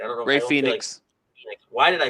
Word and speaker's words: Phoenix: i've had fedex huh i said fenix i was like that's not right i bet so it's been such a long day but no it is pronounced phoenix no i know it is